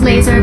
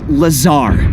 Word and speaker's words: Lazar: blazer rangers this is laser blazer a researcher in our rmd department and its sales liaison it's lazar actually accent on the tsar but yes i'm your